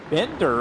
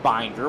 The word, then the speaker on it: Bender: say something about John Bender apparently his name is not pronounced binder which I had thought Kenny pal corrected us